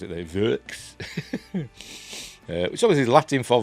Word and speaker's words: Võx: So how do you pronounce it there? Vox.